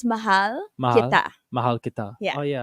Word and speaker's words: mahal: I I I'll teach you okay so it's Mahal Mahal Mahal oh yeah I remember that now or Mahal Kayo Mahal K that's what I Mahal Kayo